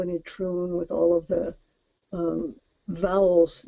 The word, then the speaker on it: Itroun: Now with Aotrou and Itroun, I'm not terribly up on Breton pronunciation, but I believe that it has the accent on the second syllable. So it's Aotrou and Itroun.